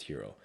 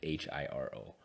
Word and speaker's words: Hiro: too funny here, but my dad's name is Hiro. So he'd be like the hero of everything. Like actually Hiro? Yeah, but it's spelled weird. It's like Japanese wise, it's like Hiro.